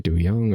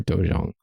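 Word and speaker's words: 도장: In Korea, formal agreements are often sealed with official stamps pronounced dojang. To say that right, dojang or dojang, of parties involved.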